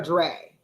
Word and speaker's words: Dre: D re EI I is it Dre or Dre like Dr R well I want to